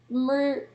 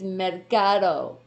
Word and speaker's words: Mercado: It's like Marika. Or Murica? Are you trying to help everybody pronounce it? It's Mercado. Well, you could say Mercado. It doesn't matter as long as you're getting the R in there.